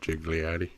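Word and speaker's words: Ghigliotti: list starring Brian o'holleran uh Jeff Anderson Maryland gigliotti is that how you say it yeah gigliotti Lisa spoonauer Jason Muse Kevin Smith Scott Mosher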